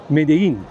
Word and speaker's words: Medellín: بد نیست به این موضوع هم اشاره بکنم که این شهر مدیین هستش و مدلین نوشته میشه ولی از اونجایی که دبل ال در اسپانیایی ی تلفظ میشه به این شهر میگن مدین.